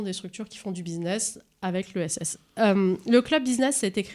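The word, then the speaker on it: Busin'ESS: Alors, qu'est-ce que c'est que ce club Business, ESS, Business Alors, tu dis comme tu veux. Ouais, tu as raison, Eric. Bon, préciser. Alors, ça s'écrit B-U-S-I, Busin, apostrophe, E-S-S. Business.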